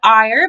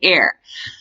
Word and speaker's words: Eyre: I always want to call it Eyre because Eyre means angry, and she's a very angry child, but I do my best to pronounce it Jane Eyre.